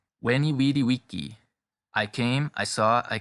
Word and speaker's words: Veni vidi vici: This is the restored classical pronunciation.